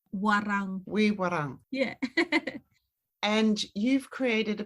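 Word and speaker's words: Woiwurrung: Woi Warang. So you have to roll your R's. Warang. Wee Warang.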